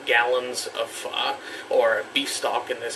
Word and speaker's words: phở: For those of you that might be calling it pho, it's actually pho. You have to pronounce it like that or else you're just not in the know.